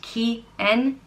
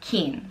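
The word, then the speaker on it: Cian: it means ancient and it can be pronounced key and Qian or keen so like well one syllable or two and have spelled CIA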